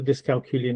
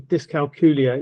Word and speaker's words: dyscalculia: Also the name of dyscalculia is really difficult to pronounce and so the best way to explain how it sounds is, it rhymes with Julia. So we're trying to raise awareness of dyscalculia maths difficulties because not